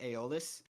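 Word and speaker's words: Aeolus: song from the wind god um eolis and I think the more popular pronunciation nowadays is aolis uh so that character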